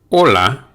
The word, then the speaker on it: hola: hear the h here also take note that the o is pronounced hola buenos dias buenos dias